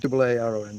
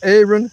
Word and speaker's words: Aaron: It's spelled Aaron, A-A-R-O-N, but he pronounces it with more of an E sound. Aaron. Not Aaron, not Aaron, but more of an Aaron, as far as I can hear it.